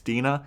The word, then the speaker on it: Dena: I knew I had a different pronunciation in my head, but now I got it. It's Dena.